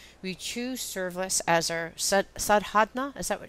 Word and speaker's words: Sadhana: We choose service as our sadhana. Is that what? How do you pronounce it?